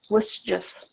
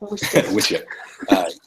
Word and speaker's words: WSJF: Yeah, it's still Wujif. That's how you pronounce that. Wujif.